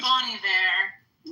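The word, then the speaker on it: Bon Iver: Ben Ben Iver Ben what's his name is what his name is Bonnie Var yeah it always throws me off because it's spelled like Bonnie Bear she had him come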